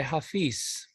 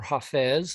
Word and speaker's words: Hafiz: closing poem is by hafiz or jafez i've heard it pronounced both ways he was a 14th